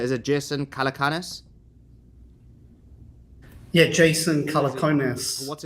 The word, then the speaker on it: Jason Calacanis: So, first of all, if you want to explain I don't know how to pronounce his name, but is it Jason Calacanis? Yeah, Jason Calacanis.